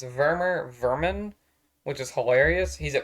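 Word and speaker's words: Werman: Mormon his name is spelled with W Sports pronounced vermer Vermin which is hilarious he's a puppet boss he's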